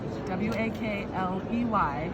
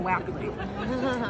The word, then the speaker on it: Wakley: To remind you, my name is spelled W-A-K-L-E-Y. This is why Diane calls me Wakley, because that's how it looks, but my name is Wakley, okay?